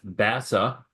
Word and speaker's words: BAS2A: And I pronounce it like BASA because it sounds like NASA.